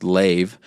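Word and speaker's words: לב: So this Hebrew word is pronounced leiv.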